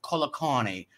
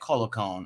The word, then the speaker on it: Colacone: My name is Colacone, or Colacone, or some people like to say around here, Calicone, whatever you call it.